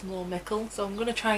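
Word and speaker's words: Mikkel: mikael this whole time when it it's more mickel so i'm going to try and say michael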